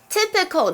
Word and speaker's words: typical: Typical，注意它的发音哦，因为它长得有点像 type，对不对？因为它的确是源自于 type，但是 typical 是它的正确发音，是个形容词，就是典型的或是有代表性的。比方像是，this kind of